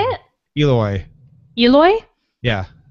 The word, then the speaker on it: Ooloi: Eloi. Eloi? Yeah. Almost like Eloi from the H.G. Wells Time Machine.